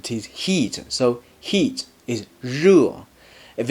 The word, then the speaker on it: 热: 热 is similar to 热 in pleasure, but you need to put the tip of your tongue further back into your mouth to pronounce it. Repeat after me. 热热.